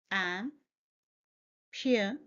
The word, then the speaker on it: amputation: It's a four-syllable word, amputation. Point to be noted are, here is the schwa sound, which is a sound, and we stress on the third syllable.